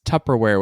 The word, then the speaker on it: Tupperware: say that again Tupperware say the first syllable tub wrong it's Tupperware with a p not a b and he's that's the